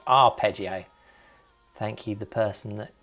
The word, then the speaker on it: arpeggio: someone commented so I now know how to pronounce our it's not a prio as I was saying it's our peggio thank you the person that put that in